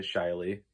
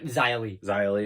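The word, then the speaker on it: Xia Li: matches themselves out of how do you say shyly yeah zylie zyley outside of her i thought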